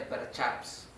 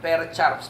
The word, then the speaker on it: Percharps: Apúntalo. Así como suena. Percharps. P-E-R-C-H-A-R-P-S. Percharps. Y lo pones entre comillas porque esa es la ¿cómo se llama? La castellanización. Porque como se escribe es medio difícil. O sea, es la castellanización.